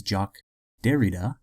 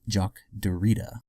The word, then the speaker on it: Jacques Derrida: in one of my previous videos the correct pronunciation is Jacques Derrida not Jacques Derrida also I wanted to thank all the viewers